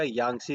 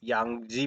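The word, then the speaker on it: Yangtze: ये रिवर देखो तो यहाँ पे है, यांगजी पढ़ोगे अगर आप वैसे प्रोनाउंसिएट करोगे तो बड़ा यांगजी आ जाता है, बट वैसे नॉर्मली देखो तो ये यांगसी रिवर है, ठीक है।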